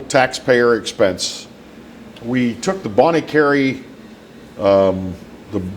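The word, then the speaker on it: Bonnet Carré: bonnie carey um the the bong or how you pronounce it bond no it's bonnie carray yeah not the spillway i'm talking about the oh the bon kerei yeah bon carre whatever you want to call it the enterprise center yeah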